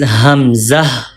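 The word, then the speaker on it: همزة: farthest part of throat, and Hamza pronounced from lower part of throat. From here, Hamza. One more time. Hamza pronounced from throat.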